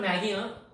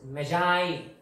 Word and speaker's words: Magi: This is not Maggie, very very popular one that some people eat. This is not Maggie. The pronunciation of this word is Magi.